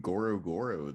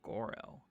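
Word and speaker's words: Goro-Goro: it is just pronounced goro what that's what that's what daggy said on my chat he said it's it's pronounced goro because of the hyphen you do not repeat it i mean you can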